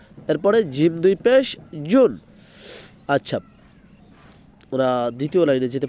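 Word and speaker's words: ج: এরপরে জিম, জিম দুই পেশ জুন, জিমটা খুলবো, জিমটা হবে জিব্বার মধ্যখান তার বরাবর উপর তালুর সঙ্গে লাগায় তারপর বলতে হয় জিম।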